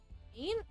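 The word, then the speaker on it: een: Ain?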